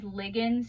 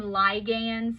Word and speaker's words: ligands: to one or more I call these ligands you can also call them ligands that is appropriate pronunciation what is a ligand